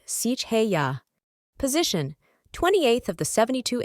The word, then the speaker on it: Seheiah: Name: Seheiah, pronounced Seheiah.